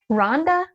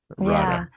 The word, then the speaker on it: Radha: Rhonda? wow? It's a beautiful. It's a beautiful deity, Yeah. Radha.